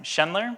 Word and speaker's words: Schendler: I meant to ask the pronunciation of your last name, Shler.